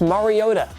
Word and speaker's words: Mariota: to say there bud it's pronounced Mariota who really doesn't even